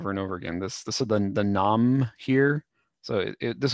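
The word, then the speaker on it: 南無: This is the nam here. So this in Japanese this would be written namu, but it's pronounced nam.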